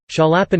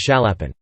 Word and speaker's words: Chaliapin: However, in the Russian pronunciation the initial consonant S is pronounced like sh in shop, not as ch in chop, and in reference books the surname is sometimes given a strict romanization as Chaliapin.